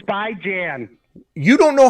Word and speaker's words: Bijan: You can't even pronounce Bijan's name. You're the reason we say It's by Jan.